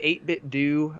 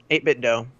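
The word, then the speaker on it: 8BitDo: got one of the 8-bit do or a 8-bit dough maybe it's pronounced I was in mint endo 8-bit yeah there you go 8-bit dough but some reason I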